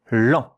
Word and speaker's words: lent: And here, E and N, those two letters, are pronounced en, and it is a nasal vowel. It means a bit of air has to come here out of your nose when you pronounce it.